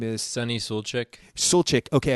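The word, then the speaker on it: Suljic: is sunny little chick soul chick okay I've heard a bunch of different pronunciations of it I've even heard not pronouncing the J as Sulak but he was in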